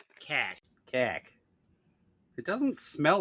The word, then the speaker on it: Kaak: It's spelled Kaak and definitely pronounced cack.